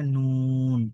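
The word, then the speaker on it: ن: নুন অক্ষরটা স্বাভাবিকভাবেই জিহ্বার আগা উপরের তালুর সাথে লাগিয়ে পড়তে হয়, নুন এইভাবে।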